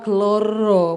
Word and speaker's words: Clara: Jadi dikei nama Kloro, bacanya Clara tulisannya ya tapi itu keloro-loro.